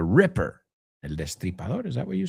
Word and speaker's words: Ripper: It's not Jack the Reaper, right? The Reaper. It's Jack the Ripper.